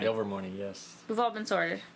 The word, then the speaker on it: Ilvermorny: Ilvermorny, yes.